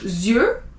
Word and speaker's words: yeux: EU is E, so yeux. You don't pronounce the X.